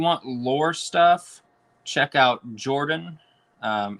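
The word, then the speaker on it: Jorphdan: lore stuff check out jordan um it's spelled j-o-r-p-h-d-a-n his uh tag line is hi i'm jordan the ph is silent he he has a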